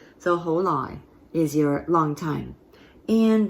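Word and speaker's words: 好耐: Ho is your mid-rising, ho, and then you have your sixth tone, low tone, nai. Now you'll notice this is spelled with an N for nai, but it's more often than not said as lai, with an L sound again, okay?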